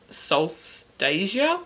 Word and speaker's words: Solstasia: competition i just realized that's not actually solstice it's soul star solstasia i'm sorry i was pronouncing that wrong when malik rings his